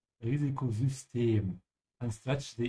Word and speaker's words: Risikosystem: The Y sound here in German doesn't sound like a Y. It sounds almost like a U with umlaut. So you have to say Risikosystem and stretch the E.